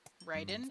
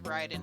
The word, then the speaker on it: Raiden: spelling but different pronunciation I think his is Ryden and then Mortal Kombat is Raiden I think but yes that character